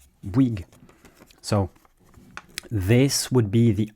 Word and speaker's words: Bouygues: then you add a g at the end wig wig.